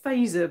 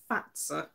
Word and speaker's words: Fazer: that is by but is the company name pronounced is it fat sir I keep recording it fazer but somebody corrected me the other day believe it might be fat sir which is what I'm